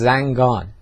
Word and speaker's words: Zanjan: Is the real name of Zanjan, which is a city in Iran, is Zangan. You know, there are many words like that that change because of Arabic pronunciation, and Khangah should be Khangah.